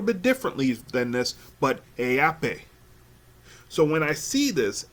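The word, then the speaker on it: Haʻapai: Hunga, and then Hunga, again, Hunga, and then the final name, I pronounce it Heape. It is spelled HA dash apostrophe APAI.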